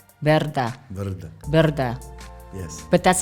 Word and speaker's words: Brda: called p r d a how do you pronounce that Verda Verda Verda Verda yes but that's how you see